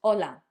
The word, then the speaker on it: hola: It's the letter H, which in Spanish doesn't have a sound.